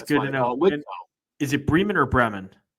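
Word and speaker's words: Bremen: line so that's good is it Brean or Breman Breeman Breeman two for two and I avoided saying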